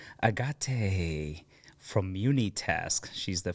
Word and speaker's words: Agate: in the hood thank you foreign Agate from Muni task she's the founder of Muni